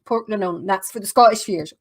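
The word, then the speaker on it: Portglenone: So if you ever see anywhere that says Port Glen 1, that's actually pronounced Port Glenone.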